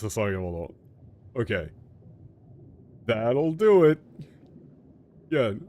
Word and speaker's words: 捧げ物: So it is pronounced Sasagemono.